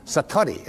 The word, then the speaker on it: Satori: but it's called Satori I'd love to say that Satori SAT Ori and it means instant awakening